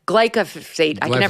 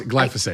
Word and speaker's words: glyphosate: Who the hell else is talking about EMF and that glycopate? glyphosate. I can never pronounce it, but they're spraying it all over